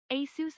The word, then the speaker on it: Asus: TTS just said Asus, so that's the correct... I was right. I knew it. I knew it. TTS would never lie. Asus Alti, now they're all low. Is that a Dota 2 reference? Zeus Alt. All right, anyways. DTS pronunciation is the end all be all. Yeah, exactly. It's a fact. It's Asus.